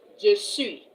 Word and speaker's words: je suis: But the s at the end is silent.